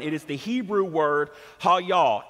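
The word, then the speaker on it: היה: it is the hebrew word ha yaw h-a-y-a-h it is pronounced hall y'all h-a-w-y-a-w hall y'all does not mean was are you ready to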